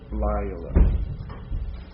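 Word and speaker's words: לילה: It just, Lila.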